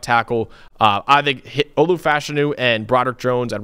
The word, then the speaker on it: Fashanu: uh he put out there his name is pronounced fashanu so Olu fashanu um he's he's we knew